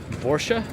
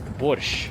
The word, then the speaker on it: Borscht: Borsche? Well, it's Borscht is the proper soup pronunciation of the borscht soup.